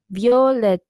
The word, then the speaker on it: Violeta: the word because yes it's not violet it's like yo let which is kind of how you say it in Spanish but yeah also they